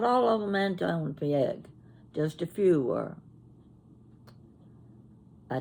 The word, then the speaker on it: Anton Pieck: Anton Pieck. That's how I pronounce it. Anton Pieck.